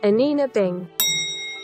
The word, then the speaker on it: Anine Bing: while to actually learn the correct pronunciation but i do believe it is a nina bay anina bing and i'm super super excited